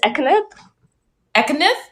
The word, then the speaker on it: Ekkanath: you say your last name so i can pronounce it correctly oh you're muted hold on you're muted yeah um it's um it's ethnic economic yes yes okay my guest is